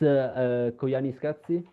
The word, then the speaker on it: Koyaanisqatsi: No, it's Koyaanisqatsi.